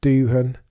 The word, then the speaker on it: Doohan: Behrman, There will be Doohan even, pronounce it correctly.